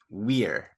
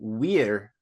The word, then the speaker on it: vir: So the Latin word for man is wir, but it's spelled VIR because all V's in Latin are pronounced as W's. So wir is man, and then